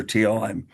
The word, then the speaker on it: Thiel: Chair Swanson, this is Teal. My last name is spelled Thiel.